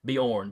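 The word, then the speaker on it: Beorn: called the Bjorn uh I'm try not to pronounce that like it's Scandinavian born b e o r n uh which I believe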